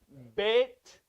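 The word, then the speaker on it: בית: bethlehem bethlehem it is bait is pronounced beit there's no there's no tha it's t there is no th in hebrew ashkenaz they have that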